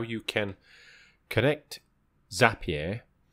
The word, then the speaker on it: Zapier: can connect zap here I think I pronounced that correct some people call it as a PA bar I'm sure it's as a PA because the things that you create are zaps right so zappy so how we can